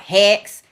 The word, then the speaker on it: Hicks: But my family pronounces it like Hicks. So it sounds like Hex, which is great.